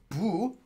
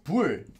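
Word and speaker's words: 不: And this is pronounced as bu. Or sometimes, as in like, for example, the word 부정하다 would be like illegal. But it's also 불, as in 불법, another word for illegal.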